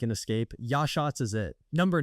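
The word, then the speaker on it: Yachats: Number 10, Yashats, Oregon. Say it with me. Yashats. Most people can't even pronounce it, which is exactly why it's still a secret.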